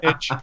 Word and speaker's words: niche: smarter than me I I like to say nich but I think Niche is a perfectly accept way to way to pronounce it sorry to interrupt I